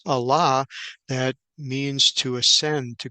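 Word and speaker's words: עלה: and so here is a word that is pronounced Allah that means to ascend to go up to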